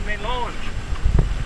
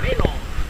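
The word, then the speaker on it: mélange: I said that wrong. I had a French lady on the trip a couple years ago and she said melange. So make sure you emphasise the first syllable when you write it down.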